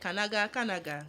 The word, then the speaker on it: Kanaga: Now you go use your own mouth call you because if I want to pronounce it, it's like Kanaga. It is not like Canadian love.